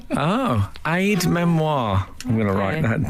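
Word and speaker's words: aide-mémoire: tried to tell you it's Aid Memoir not Aid D Memoir oh Aid Memoir I'm going to write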